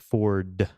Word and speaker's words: Ford: your name is Ford you have to like pronounce the hard D like Ford yeah you know yeah